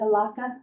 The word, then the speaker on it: Elakha: If I don't pronounce it correctly, please do correct me. I was the coastal community coordinator for the Alaka Alliance.